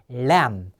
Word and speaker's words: lamb: 요 B는 발음이 안 나는 거예요. 과장된 애 발음이라 그랬죠? 애. 그래서 lamb.